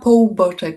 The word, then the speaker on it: Połuboczek: We are here today with Claudia Półboczek. Sorry if I'm mispronouncing. Claudia Półboczek.